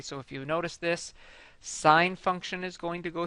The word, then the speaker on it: sine: of X equals sine X and I don't pronounce this sinh X it's sine X and the difference between this one and